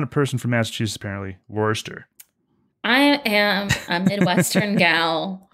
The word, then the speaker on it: Worcester: master you're not a person from Massachusetts apparently Worster I am a Midwestern gal through and through from Chicago and Detroit I call myself a chai troiter don't let somebody from Massachusetts hear you pronounce it Worchester okay I'm saving you right now okay I